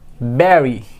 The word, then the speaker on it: bury: It will be bury.